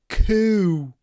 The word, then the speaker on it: coup: You need to start with a proper k with your mouth open and then coup and then close it.